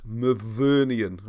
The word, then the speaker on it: Myvyrnian: So let's put this name on the screen just for a second, because I always say it wrong and spell it wrong. It's Myvyrnian, all right?